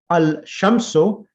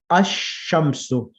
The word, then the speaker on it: الشمس: have a shadda, and the lam becomes silent. For example, al-shamsu becomes ash-shamsu.